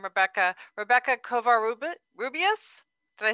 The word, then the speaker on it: Kovar-Rubias: I'm probably going to mispronounce your name, Rebecca. Rebecca Kovar-Rubias.